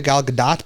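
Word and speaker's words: Gal Gadot: her always say it gdat okay but people pronounce it both ways yeah so I've always called it gal gdat because that's how she said it in her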